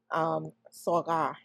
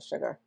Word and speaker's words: Saghar: had everyone call her Sugar because it's Saghar, but no one could say it right. And it's like the G and the H has to like almost be, that swallowed type of Sorghar.